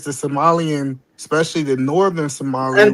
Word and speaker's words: Somali: So, but yeah, that's what I'm saying is when I study world history, it says the Somalian especially the northern Somalia.